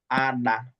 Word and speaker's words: ada: Salt is pronounced as ada. Ada. Ada. Everybody say ada. Ada. Ada. Ada. Ada. You be careful the way you pronounce that D and H. You need to bend your tongue somehow inside your mouth to be able to get it.